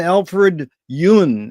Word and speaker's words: Alfred Yun: And it's a real honor and a pleasure to be here with you again, Alfred Yun.